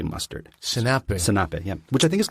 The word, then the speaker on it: senape: Senape is how you say mustard. Senape, yeah, which I think is close to French, right?